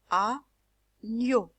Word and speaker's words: agneau: Je commence la syllabe A, le G et le N, je le lis gno, ok? Donc A plus gno est égal agneau. Je ne vais pas lire un agneau, mais un agneau, agneau.